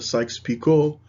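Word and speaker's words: Sykes-Picot: and as mentioned before it's pronounced the Sykes Pico agreement which was put forth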